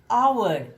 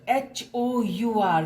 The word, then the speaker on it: hour: See, this is hour, H-O-U-R. We don't pronounce it hour because H is silent here.